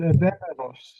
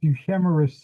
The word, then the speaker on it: Euhemerus: Well, I'm not going to comment on what I think about it, but there is a ancient author called Evemeros in Greek, pronounced Euhemerus in English, that lived during the time when Alexander the Great became a god.